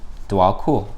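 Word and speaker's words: Djwal Khul: All right, it says, Dwal Kul. Okay, yeah, that's how it's pronounced.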